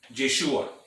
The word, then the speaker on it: Yeshua: Entonces, cuando dice Yehoshua, está diciendo Jehová Salvador, que abreviado o compactado es Yeshua, ¿verdad? Nosotros lo pronunciamos Yeshua o Yeshua. Entonces la mayoría lo pronuncian Yeshua, que es el nombre compactado de Yehoshua, ¿verdad?